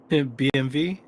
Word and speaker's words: BMW: in the United States mispronounced BMW BMV yeah vks fog that y yep in German the the W's V and the V is an F sound yep absolutely yeah that's